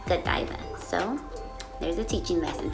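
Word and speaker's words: Godiva: fun fact me and my husband used to pronounce this as Go diva but we ended up and what I ended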